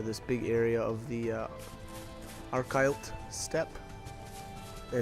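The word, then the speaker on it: Archylte Steppe: And it's gonna sound so funny when I say that, because normally, and again, I've realized that I've always said it wrong, but I always used to call it the Arclight Steppe.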